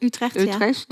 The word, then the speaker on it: Utrecht: And so she told me she made a phone call to a photo school in Utrecht. Is that how you say it? Utrecht. Utrecht.